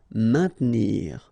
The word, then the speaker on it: maintenir: Don't insist on the E. Maintenir.